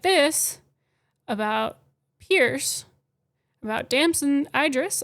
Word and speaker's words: Damson Idris: this about Pierce about Damson Idris I believe is how you say his name about his character and